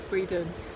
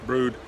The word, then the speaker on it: Brewood: I said it was Breedon, but it's spelled Brewood, but you think it's pronounced Brood.